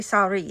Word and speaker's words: Soirée: So strawberry Soirée. It said Saw, R-E-E. That's how you pronounce it.